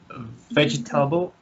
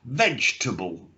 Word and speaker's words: vegetable: Vegetable prices. We should really say it just like with 2 syllables. Vegetable. Vegetable. Yeah. Not vegetable. Yeah, just simply vegetable.